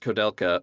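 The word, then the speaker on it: Koudelka: it was, but no, it's just a Czech name. That the main character has. Apparently, it is pronounced Kodelka, but the katakana definitely says Kudelka.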